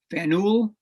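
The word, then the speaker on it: Faneuil: boston to speak at fennel with the pronunciation okay fennel hall and uh he uh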